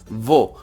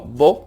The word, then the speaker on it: wo: Wo, alargas la W. Wo, no vo, como os he puesto ahí, simplemente para que lo pronunciéis.